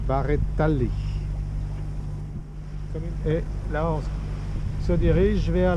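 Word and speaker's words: Barrettali: sans doute en haut la commune de bareto non de baretali et là se dirige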